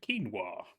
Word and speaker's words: quinoa: not as horrifying so this is kinoa or some people pronounce it quinoa yes and that works